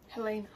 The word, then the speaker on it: Helena: So how do you pronounce the capital of Montana? Helena.